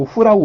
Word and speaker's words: who: 여기에서는 또 where 그냥 h가 없는 것처럼 소리가 나고 여기에서는 또 h가 있는 것처럼 소리가 나요. 그죠? 요 who라고 우리가 발음을 하니까. 근데 이게 규칙이 없어요.